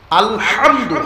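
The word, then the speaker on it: الحمد: আলহামদু, হা গলার ভিতর থেকে আওয়াজটা উচ্চারণ করতে পারলে আলহামদু হয়, সকল প্রশংসা যার অর্থ।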